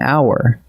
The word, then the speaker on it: hour: And watch these, an honor and an hour. Both are spelled with an H, but the H is silent, so the word actually opens with a vowel sound, and we reach for an.